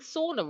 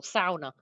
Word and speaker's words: sauna: So I've been saying sauna wrong all these years, or sauna." Thank you, Peter P, for the proper pronunciation.